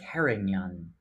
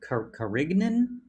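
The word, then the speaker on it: Carignan: car carrying you know vanessa taught us how to say this tonight um karen young karen karinyan karinyan karinyan you know when i um when i saw when i saw the label i was like karignan and then she's like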